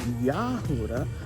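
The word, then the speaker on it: יהודה: We're properly pronounced Yahuda because there's no J's in Hebrew.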